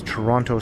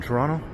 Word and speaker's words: Toronto: And that's Toronto Street. Yes, I said it with a T. I'm not sure why. A true Torontonian does not pronounce the second T, so they say.